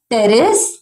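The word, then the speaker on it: Pteris: नाम है nephrolepis मार्सेलिया पी वहां पर यहां पर वापस से पी साइलेंट है टेरेस एडि एंटम क्या है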